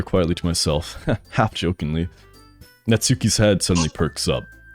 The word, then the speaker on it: Natsuki: Natsuki is actually pronounced Natsuki.